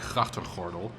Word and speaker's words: grachtengordel: I mean, if you can't do the hard Dutch G, then a word like grachtengordel, I mean, properly pronounced like grachtengordel, it's very difficult.